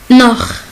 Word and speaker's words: noch: Si CH est venu après A, O ou AO, il se prononce comme auch, auch, auch, auch, c'est aussi.